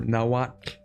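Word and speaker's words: Nahuatl: So, the the pronunciation for nawat is interesting because the TL is not actually a TL sound. There's just no direct there's no direct translation for that sound in English or Spanish, which is super funny.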